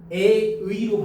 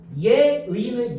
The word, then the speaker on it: 예의: 예의 써봐. 예의. 그러면 이거 예를 들어 에의로 발음하면 돼, 안 돼? 너는 왜 이렇게 에의가 없니? 그죠? 이러면 안 되잖아.